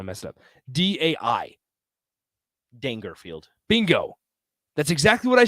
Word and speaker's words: Dangerfield: No, because it's not Rodney Dangerfield. It's Rodney Dangerfield. If you say so. No, it is. Nobody pronounces his name Dangerfield.